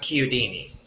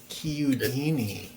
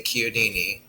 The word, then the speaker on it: Chiodini: My last name is pronounced Kudini. Kudini. So the ch is like a k sound.